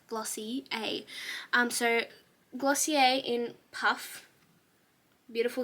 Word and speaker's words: Glossier: I just want to, I did a training through my work on Glossier, and they said that it's pronounced Glossy A.